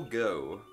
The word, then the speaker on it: Goux: Alright, so here's Nicole Goux, I believe that's how you pronounce she it. She like Pokemon Go? Gesundheit, Jesus Christ! It's spelled G-O-U-X.